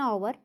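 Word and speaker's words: hour: हैं, जैसे एन ओवर, ओवर में क्या होता है कि इसमें एच साइलेंट होता है, ओ जो है ये बावल है और साउंड भी बावल की ही, साउंड भी जो है बावल की दे रहा है।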